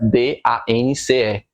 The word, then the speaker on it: dance: Eu posso falar, por exemplo, aqui dance, que é dançar, D-A-N-C-E. Você não fala dance, você fala dance, o som para no C.